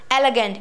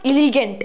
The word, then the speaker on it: elegant: Elegant. It is not elegant. It is elegant. What is it? Elegant. It's not gaint. It's gunt. Elegant.